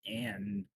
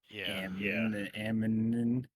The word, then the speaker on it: Amn: It's pronounced Anne, but I have a hard time saying it because I look at AMN and I'm like, Ammon, that place.